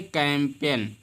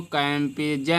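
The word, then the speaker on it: campaign: इसी प्रकार से है कैंपेन। क्या है? कैंपेन। इसको कैंपेजन नहीं पढ़ते हैं।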